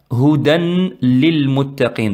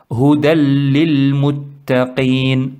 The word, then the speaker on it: هدى للمتقين: double fatha, hudan, ici, certains ils le font hudan lil muttaqin, donc ils prononcent noun, hudan, le tanwin, ils le prononcent hudan lil muttaqin, alors que, moi je précise bien, c'est pas une faute grave, ça va pas si on fait la prière, ça va pas annuler la prière, mais le prophète sallallahu alayhi wa sallam et les arabes, les vrais arabes, le prononcent correctement, hudalli, huda, huda, après il passe directement sur l'âme.